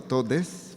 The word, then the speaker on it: todes: Buenas tardes a todos, a todas, y a todes. For those that like to use the X, we pronounce it as an E, at least in the Mexican gender studies world.